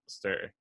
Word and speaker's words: Elster: Today's guest is Elster. is one of the most highly regarded How'd you independent pronounce my consultants.